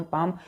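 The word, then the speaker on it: palm: हैं पाम बोलते हैं पी एल एम पाम पाम में एल साइलेंट है एल को हम कुछ नहीं बोलते हैं ठीक है तो एल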